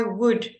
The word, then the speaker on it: would: that food would yes it's spelled I would recommend it but it sounds like wood um I would I